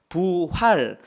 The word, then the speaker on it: 부활: 어떤 때는 복이라고 읽고 어떨 때는 부라고 읽습니다. 오늘 본문에서는 부자로 읽습니다. 그래서 부활 그 뜻을 그대로 말하면 다시 살아나다.